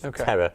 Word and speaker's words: Thera: That's my cousin's and it's spelled TH, but it's Terra.